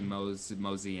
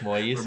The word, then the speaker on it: Moise: So like they're gonna attempt to be the second since Patty Mosey and Elton Moise? Sawyer. Yeah. Moise. Moist. Moise.